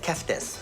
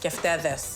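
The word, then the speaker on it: κεφτέδες: I'm saying keftes. Keftedes. Keftedes. You missed a syllable.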